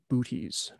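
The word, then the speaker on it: Boötes: or booties i think boates is how it's supposed to be pronounced with the umlaut there for those of you that speak latin but most people call it booties booties is the herdsman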